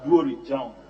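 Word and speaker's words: Duori Jam: Yeah, Duri Jam, not Jam.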